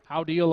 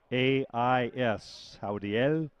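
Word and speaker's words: Jaudiel: Howdiel Olais.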